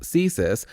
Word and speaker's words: CSIS: The Canadian Security Intelligence Services, pronounced CSIS, is Canada's spy agency.